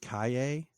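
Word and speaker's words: Calle: shut down then Sasha I've heard her nail pronounced Cay I'm not really sure how you get that from c a l l e the it's the the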